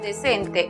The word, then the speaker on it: decent: La siguiente sílaba, cent, es cerrada porque termina en consonante. Entonces, aplicamos el sonido cerrado de la vocal e, es decir, e igual que en español. La pronunciación para la palabra decente en inglés es decent.